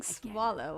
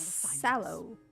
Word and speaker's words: Sallow: I keep saying Swallow when I say his name. So it looks like Swallow, but it's Sallow.